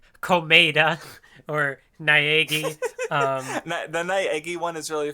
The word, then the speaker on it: Naegi: So like the fact that like Naegi specifically is pronounced, it's pronounced Naegi, was like really fun.